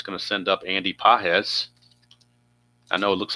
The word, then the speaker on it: Pages: So Edund grounds out and that's going to send up Andy Pahz. I know it looks like pages but it's pronounced PZ 116.